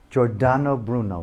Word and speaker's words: Giordano Bruno: losing it so that possibly how do you pronounce his name Georgina Giordano Bruno right have the gorge on Oh Bruno correct